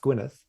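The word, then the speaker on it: Gwynedd: I found out later Gwyneth spelled EDD at the end pronounced Gwyneth was this Welsh medieval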